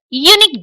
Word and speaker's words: unique: If you say it is unique dress, then an is right, but we pronounce it unique dress, so here an is incorrect।